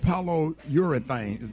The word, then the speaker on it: polyurethane: Okay, the floor is made out of polyurethane. Did I pronounce that right?